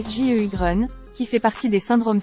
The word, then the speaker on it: Sjögren: qu'est-ce que c'est le syndrome de gougeerosie Grun prononcé sju Grun qui fait partie des syndromes sec est une